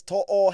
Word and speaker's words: To'o: Brian To'o, it's To'o.